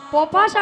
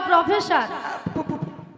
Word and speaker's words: প্রফেসর: আমি ইংরেজি পপাসা পপাসা নয় বল প্রফেসর একটা কথা উচ্চারণ হচ্ছে না